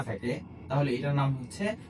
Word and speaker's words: ح: থাকে তাহলে এটার নাম হচ্ছে হা। হা। হা উচ্চারণের ক্ষেত্রে গলার মাঝখানে একটু চাপ প্রয়োগ করলে হার সঠিক উচ্চারণটা বের হয়ে আসে।